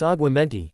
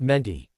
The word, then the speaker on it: Aguamenti: As he came back out, he heard Hermione saying, "You're saying it wrong." "It's Aguamenti, not Menti."